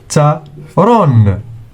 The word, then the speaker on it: دفتر: دال plus فاء plus تاء plus راء equals دفترون.